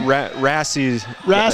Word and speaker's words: Rassi: So now we're going to go to 157, and this is Rossi. Is that how you pronounce that name? Rassi is how I've heard it.